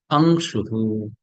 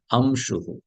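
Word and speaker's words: अंशुः: known as anuswaraha, like angshuhu, angshuhu. This is not pronounced as amshuhu. It's not amshu. It is angshu.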